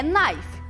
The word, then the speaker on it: knife: Tem um K aqui na frente, mas a gente não pronuncia. É igual ni. Lembram do ni? Joelho? Então, esse K aqui na frente de knife, a gente não pronuncia. Então, é knife.